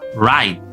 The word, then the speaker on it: right: Right. Right. Seolah tidak ada GH-nya. Jadi, seolah tulisannya itu seperti ini ya dan dibaca right.